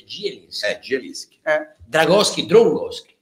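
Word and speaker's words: Zieliński: mi par Eh esio si scrive zelinski si dice gelinski Eh gelinski Eh dragowski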